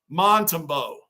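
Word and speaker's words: Montembeault: Bruin, I don't know if you saw my comment earlier, but his name is pronounced Montembeau.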